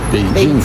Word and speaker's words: Beijing: - Can't I say Beijing? - You can, but some people... Beijing, which in Chinese is pronounced Beijing.